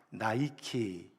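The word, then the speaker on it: Nike: 니케 여신입니다 세계적인 스포츠브랜드인 나이키 아 키 나이키가로이 승리의 여신인 니케의 이름을 영어식으로 발음을 해서 만든 것입니다 승리를 상징하는 나이키이 니라는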